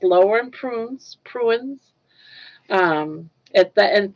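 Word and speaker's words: purines: Pruins um at the and puins is uh spelled as uh p u r i n e s in case I'm saying it wrong. Puins.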